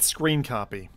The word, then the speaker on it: scrcpy: Steps step one get screen copy screen copy is abbrevi like this s crr cpy un pronounced screen copy once you get here